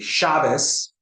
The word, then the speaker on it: Shabbos: The T sound that Sephardim say, for Ashkenazim, they say a Sa sound. So it will be Shabbos, while in Sephardic pronunciation, it will be Shabbat.